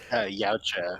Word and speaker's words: Yautja: Yautja, Youch, which is thank the you.